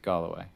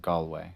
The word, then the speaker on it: Galway: stop of my trip i like galloway it's it's or galway i think it's i think it's two syllables um really lovely really